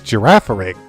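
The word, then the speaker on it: Girafarig: Pokemon living near Lake of Rage, Mary, how do you pronounce that name? That's Giraffaric.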